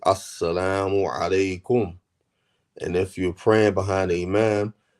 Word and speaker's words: assalamu alaikum: and say assalamu alaikum and say it correctly, not sa alaikum or assalamu alaikum, not like that, not saying it like that, saying it correctly, assalamu alaikum.